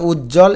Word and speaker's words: উজ্জ্বল: নিচে আবার ব আছে এই ব উচ্চারিত হবে না এটা এটা উজ্জ্বল এভাবে ভেঙে লিখতে হবে।